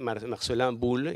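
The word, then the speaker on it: Marcellin Boule: La siguiente, el gran poblador de la galería, por decirlo así, fue Marcelin Bull, y lo pronuncia a la francesa, algo como el par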